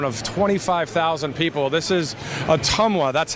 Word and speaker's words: Ottumwa: this great town of 25,000 people this is atuma that's how you pronounce it atuma I thought it was atwa or whatever but it's a tomwa uh Tom